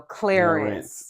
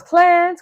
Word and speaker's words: Clarence: one that you know says two syllables when you say my name you know Clarence yeah everyone else Clans clans it was like that's